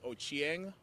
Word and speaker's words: Ochieng: n g Ender thank you sir can you pronounce um my last name is ochieng my mother's last name is ooko and foreign